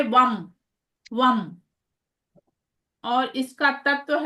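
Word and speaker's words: वं: तो इसका उच्चारण आप लोग को कैसे करना रहेगा? वम।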